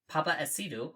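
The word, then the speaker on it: Paapa Essiedu: Papa Isidro, okay.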